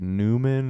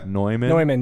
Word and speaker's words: Neumann: and it's like it's like newman or no no i mean neumann yeah i have a